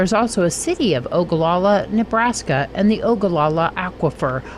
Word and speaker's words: Ogallala: OA yya or ogalala if you answered ogalala you're right but why is the